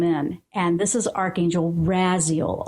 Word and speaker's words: Raziel: And this is Archangel Raziel, R-A-Z-I-E-L. That's how I pronounce it. I've heard Raziel. I've heard all kinds of stuff.